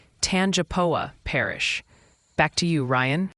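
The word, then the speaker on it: Tangipahoa: you pronounce the tangoa parish in Louisiana it's pronounced tanapa Parish back to you Ryan it seems wrong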